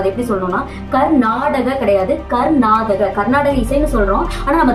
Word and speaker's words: கர்நாடக: அந்த வார்த்தை கர்நாடகம் பழமையான இசை பழமையான சங்கீதம் அதாவது கர்நாடக இசை அப்படின்னு நம்ம சொல்றோம் ஆனா நம்ம திராவிட மொழியில நம்ம அதை ஸ்பெல் பண்ணும் போது அதாவது உச்சரிக்கும் போது நம்ம அதை எப்படி சொல்லணும்னா கர்நாடக கிடையாது கர்நாதக கர்நாடக இசைன்னு சொல்றோம் ஆனா நம்ம திராவிட மொழியில நம்ம